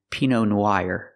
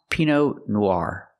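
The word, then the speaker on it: Pinot Noir: don't pronounce this wine p no it's not p no it's pronounced P Noir use the r sound like car and far Noir P Noir I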